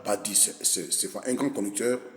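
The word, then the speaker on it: Badie: est il excellent Bernard Badi je rectifie parce que dans mes précédentes vidéos je j'ai mal prononcé son nom scientifique son nom c'est Bernard Padis c'est pas un grand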